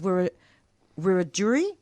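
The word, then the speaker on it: Wiradjuri: On her mom's side, she is Wur Rajuri. That's spelled W I R A D J U R I.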